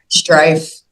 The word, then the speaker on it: Struff: Yes, Am I pronouncing that correctly? Strife.